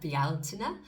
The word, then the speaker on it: Bealtaine: Samhain, or if you're in the Northern Hemisphere, Beltane, or as the Irish like to pronounce it, Bealtaine.